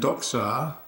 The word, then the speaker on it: doxa: And doxa is appearance, or doxa means, well, appearance is the word. Doxa is a good word. It's one of the few with a short A ending.